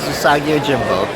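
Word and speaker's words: Usagi Yojimbo: Okay, I am here with the legendary Stan Sakai, creator of Usagio Jimbo. Did I pronounce that close enough? Yes, it is. Usagio Jimbo.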